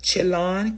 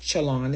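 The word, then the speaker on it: Chelan: The Chalon County Sheriff's Office Chalon is spelled C H E L A N office has been looking for Decker since the evening of May 30th.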